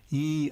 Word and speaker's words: ye: Then it came to represent the sound in the word 'the' when it replaced an old rune letter for that soundthe. We know this because we sometimes see a sign designed to make us think of old England like ye old in which actually meant in those days the old in.